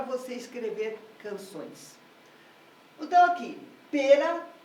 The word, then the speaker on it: pera: escrever canções então aqui pera e maçã ambas com duas sílabas porém com uma diferença brutal Pera tem a primeira sílaba tônica sua sílaba tônica a primeira sílaba da palavra Então ela já começa